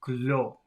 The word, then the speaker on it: clos: listen and imitate these contrasts I'm going to try this before he says it so the first one is c-l-o-s that should be Glo glow but then the second